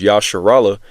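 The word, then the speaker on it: ישראל: Okay, when we call ourselves Yasharallah, all right, which is the Hebrew way of saying Israel, that means Yah is he, Shar is prince, Allah is power.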